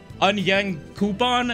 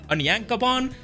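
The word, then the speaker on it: Onyankopon: man's name was hilarious because i pronounced it like an young coupon and i guess it's not onion coupon it's an yankabon hopefully i'm still pronouncing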